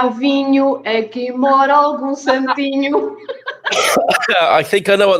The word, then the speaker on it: santinho: Aqui mora algum santinho. Santinho. Santo. Oh, and good health. Saint. Yes. And santinho is to rhyme with vinho.